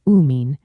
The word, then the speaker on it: amine: Amine is pronounced "uh mean" and amide is pronounced "am ide".